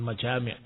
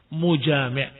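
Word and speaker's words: مُجامِع: Karena al-mujami', maaf, tadi bacanya salah, bukan majami', mujami', pelaku dari jima.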